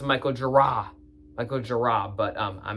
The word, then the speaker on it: Michael Gira: It's like after the meditative beginning, Michael Gear. It's actually pronounced Michael Gira.